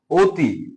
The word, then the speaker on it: অতি: তো একটু দেখো অতি, যেটা আমরা লিখে রাখছি শুরুতে আছে অ কিন্তু ওর উচ্চারণটা কার মতো হচ্ছে? অতি।